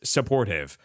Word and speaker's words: Support Hive: You pronounce the last one as Supportive.